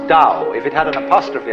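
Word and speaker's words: Tao: principle of organic growth they called ow that's pronounced Dao if it had an apostrophe after it would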